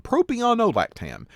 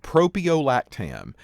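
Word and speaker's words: propiolactam: find out is that for propion we actually will just call this propio propio lactam it's a little bit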